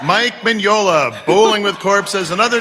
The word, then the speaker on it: Mignola: Mike Manola. Mike Mignola, Bowling with Corpses and Other Tales from Lands Unknown.